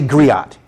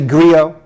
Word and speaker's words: griot: In indigenous African languages, if there's a letter in a word, it's pronounced.